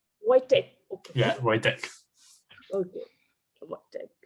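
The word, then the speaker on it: Vojtěch: Yeah, correct is Vojtech. Like usually English speakers go for Vojtech because of the J, but Vojtech.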